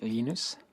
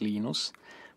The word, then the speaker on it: Linus: exactly your preferred pronunciation when I speak Swedish it's heinous when I speak Finnish it's Lino's when I speak English its Linus and I really don't care how people prance my name but Linux is always